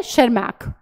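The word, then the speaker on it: Tschermak: सो ये बात आपको ध्यान रखनी है, यहां पर टी और जो है साइलेंट है शेरमैक, ठीक है, इसको प्रोनाउंसिएशन जो है।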